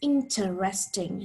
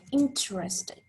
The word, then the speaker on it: interesting: special and interesting why the most correct pronunciation which you probably learned in school of this word is interesting natives both americans and brits like emma often shorten it as sounds like interesting notice that it goes